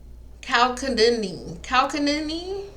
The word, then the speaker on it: chalcedony: Chalcedony or Chalcedony. I'm gonna find the pronunciation.